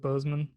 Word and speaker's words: Boseman: week uh chadwick uh he's pronounced it bozeman right yeah chadwick boseman uh jacob blake and